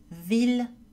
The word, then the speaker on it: ville: Il existe trois exceptions, mille, ville, tranquille. Ces mots ainsi que leurs dérivés, million, village, tranquillité, etc., sont prononcés avec le son L.